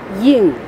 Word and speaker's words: Ying: Ying. Ying. Yin. No G at the end. Ying. G is silent.